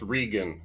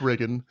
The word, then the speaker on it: Regan: My last name is pronounced Regan. Oh, well, I'm so very But that's sorry. fine. I guess I didn't do my research correctly. So anyway, we have Regan on here, not Reagan.